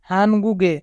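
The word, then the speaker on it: 한국에: হানগুগে, হানগুগে মানে কোরিয়াতে। এখানে বাচ্চিমের পরে ইয়ং থাকার কারণে বাচ্চিমটি ইয়ং এর স্থানে যাবে, তাই উচ্চারণ হবে হানগুগে।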